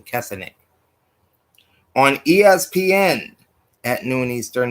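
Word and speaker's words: Kessenich: Griffin III and Clint kessenic that's how you pronounce his name cassinet on ESPN at noon Eastern nine Pacific is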